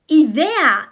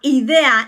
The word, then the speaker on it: idea: Idea. Idea, not idea. Idea.